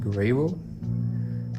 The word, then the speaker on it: Gurabo: And we were going by this bridge in this town called Gurabo, or I guess it's pronounced Gurabo.